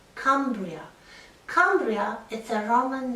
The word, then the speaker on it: Cumbria: mountains is wales and cumbria with the short u vowel is the lake district